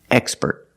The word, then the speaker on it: expert: With the word expert, we put the stress on the first syllable, expert.